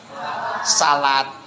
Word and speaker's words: salat: Kalimat sholat dibaca salat. Tulisannya SHALAT. Salat. Iya enggak?